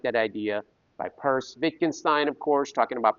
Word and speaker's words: Peirce: I don't know why you pronounce his last name Peirce because it's spelled like Pierce.